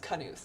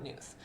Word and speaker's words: Knuth: I think it is pronounced Knuth, not Nuth.